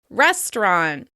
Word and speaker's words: restaurant: Restaurant, restaurant. This word is sometimes pronounced with 3 syllables, and sometimes we drop that middle syllable.